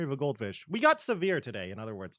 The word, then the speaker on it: Sivir: Or as some people like to pronounce it, Sever? I don't know. I think that's how Riot themselves pronounces her name, but I say SIVIR because it's easier to say for me instead of Sever.